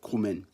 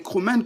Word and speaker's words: Kroumen: Voilà pourquoi j'ai décidé de faire une vidéo pour vous parler de l'histoire des Kroumènes.